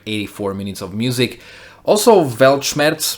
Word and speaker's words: Weltschmerz: minutes of music also velchmetz finally pronounced it right he's from german means the pain of the world and interesting